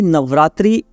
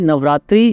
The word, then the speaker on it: नवरात्र: correct करना चाहूंगा कि नवरात्रि जो शब्द है उसका उच्चारण ही गलत है एग्जैक्ट जो शब्द है वो नवरात्र होना चाहिए अगर मैं संस्कृत व्याकरण